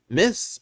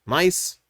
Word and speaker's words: My-Th: Uh see, Kamen Rider Miss uh Mice pronounced Mice.